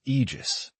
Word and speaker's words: Aegis: Aegis is supposedly the name of Zeus's shield, and the way you say it is Aegis, with a strong emphasis on the G.